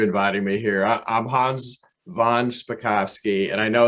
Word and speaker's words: von Spakovsky: i appreciate you inviting me here i'm hans von spakovsky and i know it's not a typical name